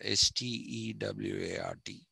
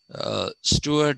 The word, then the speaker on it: Stuart: used in yesterday's class s-t-e-w-a-r-t the stewart both me they are different spellings the pronunciation is the same this is the correct